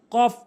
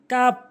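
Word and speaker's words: كاف: কফ ভুল উচ্চারণ, কফ ভুল উচ্চারণ, কফ সঠিক উচ্চারণ, কফ সঠিক উচ্চারণ।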